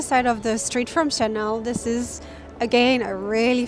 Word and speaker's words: Chanel: So the pronunciation is Chanel. It's really easy. In English, many people say Chanel, but it's Chanel.